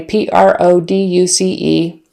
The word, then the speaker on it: produce: exactly the same way p-r-o-d-u-c-e so the noun is produce produce syllable stress on the first syllable produce with a long